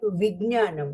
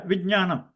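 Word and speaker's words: विज्ञानम्: So Jna become Akshara, so we will pronounce like Vijnanam, right? Yeah, Vijnanam. But don't make it a ga. There is no G sound there. There's a, the English G ga sound is not there.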